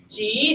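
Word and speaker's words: 几: how many and notice it is spelled j i but how is it pronounced it is pronounced like the letter G people okay G how many and the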